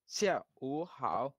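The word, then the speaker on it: 下午好: এটা হ এবং দন্ত সের মাঝখানের একটা টোন আসবে, জিহ্বার গোড়ার দিকে। শিয়া। সিয়া। হয়ে যাবে আস্তে আস্তে ইনশাল্লাহ, কাছাকাছি। সিয়া তবে ভালোই। উ হাও। হুম, শিয়া ও হাও।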